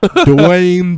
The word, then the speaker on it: Dwayne: the just is another Dwayne the rock Johnson Dwayne Johnson Oh Dwayne Johnson now Wayne Wayne Wayne Wayne the rock Johnson wing it's one syllable its we talked about